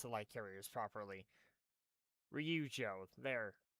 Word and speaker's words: Ryujo: I can't I can't pronounce the light carriers properly. Ryujo.